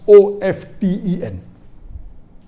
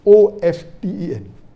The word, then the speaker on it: often: Some will say often, some will say often. Previously it was often, then it became often. Now new people are saying no, often is correct. T is not silent, it should be pronounced. Some say T is silent, and then there's a big debate for that.